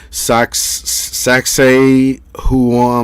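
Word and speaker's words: Sacsayhuamán: to check it out uh it's called uh sax sac say who on mine something like that i can spell it for you see if you can pull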